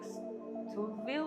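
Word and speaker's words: Stouffville: It's like stove but with oil.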